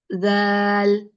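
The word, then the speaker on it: ذال: Zal, zal. It's not like the Z of zebra. It's not the real Z. There is a slight change in the pronunciation.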